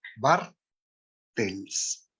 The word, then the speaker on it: Bartels: Me da un placer poder moderar esta conferencia magistral a cargo de la doctora Sandra Bartels. ¿Sí está bien pronunciado?